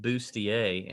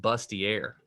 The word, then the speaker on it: bustier: on the business yeah i also learned how to pronounce bustier today because i was i was reading my friend at work one of the reviews and the the girl mate said bustier and i said busty air because she was talking